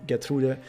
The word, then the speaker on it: Gertrude: However, also in the anime, we see Gertrude around, or as it would be pronounced correctly, Gertrude.